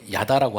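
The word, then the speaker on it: ידע: 히브리어로는 야다라고 합니다.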